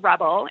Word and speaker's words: RBL: So, I have a company called Rebel. It's spelled RBL, and it stands for relaxation-based lifestyle.